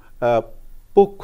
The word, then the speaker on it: পক্ষ: ভুল উচ্চারণ শুদ্ধ উচ্চারণটা যুক্তক্ষ যদি শব্দের মাঝে বা শেষে বসে তাহলে এই যুক্তক্ষ সহ তার পূর্বের বর্ণের ওকারান্ত উচ্চারণ হয় যেমন পক্ষ উচ্চারণ হবে অর্থাৎ এখানে যুক্তক্ষ এরও ওকারান্ত উচ্চারণ হলো তার পূর্বের বর্ণের প এটারও ওকারান্ত উচ্চারণ হলো তাহলে হয়ে গেল পক্ষ সঠিক উচ্চারণ হবে দক্ষ